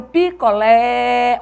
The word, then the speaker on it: picolé: é a sílaba tônica venda picolé olha o picolé ó lé Então essa sílaba que se estende ela é a sílaba tônica Experimente isso que aí